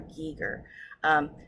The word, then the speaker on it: Giger: and the artwork first and foremost, I always mispronounce his name. It's H.R. Giger.